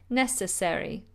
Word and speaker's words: necessary: your stomach fuel fuel necessary necessary four syllables necessary necessary it's not necessary